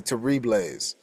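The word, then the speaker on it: Terrible's: It's spelled terrible, but I think it's actually Terribles.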